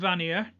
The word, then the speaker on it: Vanir: the a serum vanir that's a northern english pronunciations there for you in fact everything i pronounce is no is a northern england so there is sierra and vanier i will talk about